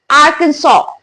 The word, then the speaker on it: Arkansas: So it's written as Arkansas, guys, but when we speak, the pronunciation would be Arkansas. Arkansas.